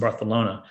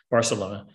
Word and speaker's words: Barcelona: book takes place in barcelona barcelona um they pronounce it with the th when you're there so